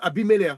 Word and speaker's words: Abimelech: Ça se prononce Abimelech. Ça s'écrit Abimelech, mais le K à la fin, ça se prononce comme un R.